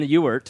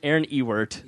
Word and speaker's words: Ewert: And then Ewert, which I am firm in that pronunciation. Ewert.